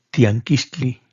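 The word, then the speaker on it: tianquiztli: En el náhuatl se pronuncia tianquistli y significa mercado.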